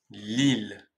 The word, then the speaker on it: Lille: à moins de 1h de Paris j'ai nommé Lille ouais une ville magnifique avec son centre historique